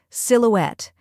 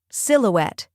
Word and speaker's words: silhouette: down first we have Sil which sounds like sill as in a window sill next is O which